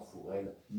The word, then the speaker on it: Forel: Et pour faire en occitan, le O se prononce OU, ce qui fait que tous les noms propres, par exemple, qui existent en O, comme Morel, comme Forel, etc., on leur décline en Mourel, en Fourel, en Rossignol, etc.